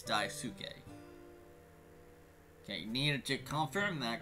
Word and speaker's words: Daisuke: it's dive suit gay daisuke's so it's not dice que it's dive suit gay okay Nina chick confirm that cuz I wasn't